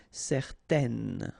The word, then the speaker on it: certaine: Okay, so it's nasal in your nose, un. Okay, if you add this at the end, then it will change the thing, and then you will pronounce it n.